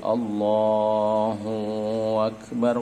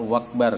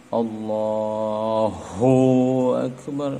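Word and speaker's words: الله أكبر: Tapi yang diingatkan Imam Ghazali itu yang sering terjadi, kata beliau, ada memasukkan huruf waw di antara hu dan hamzah akbar. Seperti ini, Allahu Akbar, wakbar, seakan-akan kita menyebut hu akbar.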